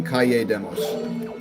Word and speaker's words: Kalle Demos: I like calling him Kalle Demos. I just think that sounds cool. His name is spelled K-A-L-L-E. Which, if you guys know, in Spanish, 2 L's makes a Y sound.